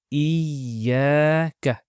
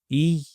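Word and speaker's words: إِيَّاكَ: So the two yas here are represented with one ya with a shadda on top. They're exactly the same. Okay, and it's pronounced Iyaka.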